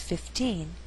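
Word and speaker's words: fifteen: repeat when Jennifer was 15 curly hair was in here we did not stress hair here 15 is at the end of a phrase so the second syllable is stressed also here in is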